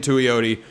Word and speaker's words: Tuioti: So has Tatum Tuioti, which is how you pronounce his name, by the way.